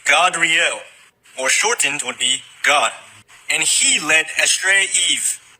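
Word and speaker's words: Gad: God, the same way it's pronounced in Enoch with that little vowel point above the A.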